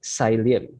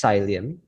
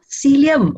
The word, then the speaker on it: psyllium: question from tina lim so to what extent is silent effective in helping people to lose weight uh yeah it's pronounced cylium i'll spell it out p-s-y-l-l-i-u-m celium okay see is it uh yeah i think